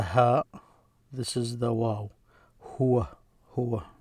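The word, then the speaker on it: هو: Huwa, that's how you pronounce it.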